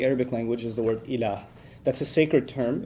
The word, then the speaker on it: ilah: La ilaha illallah, in which there's the term ilah.